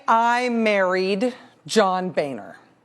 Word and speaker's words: Boehner: But if I was going to become not Rachel Ann Maddow, but rather Rachel Ann Boehner, it's pronounced Boehner, the state of Texas for a long time,